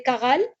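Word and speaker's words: Charales: ce sont généralement les karals on prononce les Karal mais ça s'écrit avec Ch les Carole ce sont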